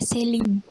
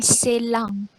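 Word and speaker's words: Céline: Biasa bacanya Celine. Bukan Selang. Karena di belakang N itu ada E. Biasanya itu enggak jadi eng. Tapi Celine. Karena di belakang N-nya itu ada E.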